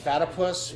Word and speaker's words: Pata Puss: got it again right pata puss rhymes with platypus and I just want